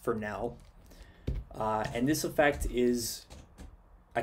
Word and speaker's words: Fresnel: it's spelt like this it's spelt like that but it's actually pronounced for now and this effect is